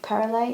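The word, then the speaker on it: Simone Pérèle: I think Perele is how you pronounce it, but I'll leave a link to all those recommendations for you in the description.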